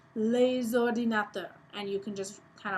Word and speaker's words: les ordinateurs: S, you can say les ordinateurs, and you can just kind of pull it all together. Les ordinateurs. You get to pronounce that S because of the O in ordinateur.